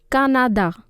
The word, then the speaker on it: Canada: It remains the same, but the pronunciation changes. Listen to how I am pronouncing it. Canada.